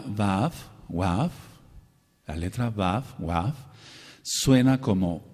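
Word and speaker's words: וָו: La letra va wav suena como u y suena como o. La letra vaf, wav, que es lo más correcto, suena como u y suena como o.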